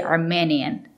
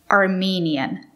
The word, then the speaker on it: Armenian: n Armenian Armenian Armenian it's not correct to say Armenian you have to use the long e Armenian the country is Armenia